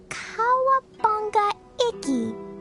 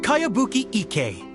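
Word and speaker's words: Kayabuki Ikkei: new one i've never heard of it by cowabunga icky this is a really strange name who's this cowabunga it's pronounced kayabuki ek that would be me outlander brigade is a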